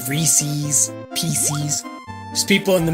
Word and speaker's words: Reese's: Pieces rhymes with Reese's.